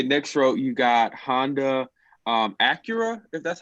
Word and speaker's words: Acura: next one okay next row you got Honda Acura that's how you pronounce it the Subaru and me she be